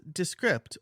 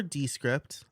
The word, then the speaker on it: Descript: podcast is descript or descript I've heard it pronounced both ways and I've never gone to an official source to hear how it's pronounced so I'm going to say descript like description description I guess if you